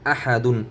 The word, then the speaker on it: أحد: হামজা জবর আ, হা জবর হা, আহা আহা, দাল দুই পেশ দুন, আহাদুন আহাদুন। এই হামজাটি মোটো হবে, আহা আহাদুন।